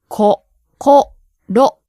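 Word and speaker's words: こころ: This word has 3 syllables, all of which have 1 consonant and 1 vowel. Right. The first syllable Ko, has the consonant K and the vowel o. The second syllable, Ko, same, K and O. Third one, ro. consonant R, and O.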